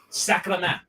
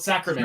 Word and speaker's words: sacrament: Like this one, sacrament. Yeah. Spelled sacrament. It's pronounced sacrament. SACRAMENT. Are we doing that? Is that no question? Yeah. Derived from sacrament. Repeat that, please. Sacrament. Think Sacramento without the O.